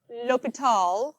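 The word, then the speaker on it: L'Hôpital: like the hospital right you pronounce it Lal okay Lal L anybody in here to take French L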